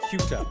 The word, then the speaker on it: Ceuta: I'm not sure how to pronounce that. I believe it's pronounced Ceuta.